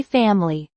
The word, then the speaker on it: family: My family. It is often pronounced with one less syllable.